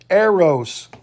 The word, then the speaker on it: eros: is another one that's called eros arrows pronounced that way is spelled e-r-o-s and eros means a